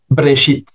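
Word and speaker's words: בראשית: et s'en suit que dans une prononciation massorétique au commence au commencement se dit brchit.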